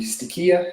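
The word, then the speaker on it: στοιχεῖα: These elemental spirits, in Greek, we have the stoicheia, or the stichia, if it's modern pronunciation, the stoicheia.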